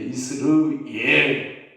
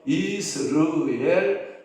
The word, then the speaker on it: 이스르엘: 축복받은 자녀가 될 거야라고 말씀할 때 이스라엘 근데 이스르엘 이것은 하나님이 허한다 이런 뜻을 가지고 있다라고 하는 거예요 그러면 이스라엘의이 음과 거의 여러분들이 분별이 앉을 정도로 자제가 다시 한번 발음해 볼게요 이스르엘 이스라엘 여러분 분별 됩니까 아 제가 보니까 거의